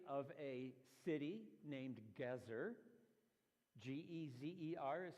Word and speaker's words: Gezer: The city gate of a city named Gezer, G-E-Z-E-R is how it shows up in English. Some of you may, when you read your Bible, pronounce it Geezer, but it's Gezer.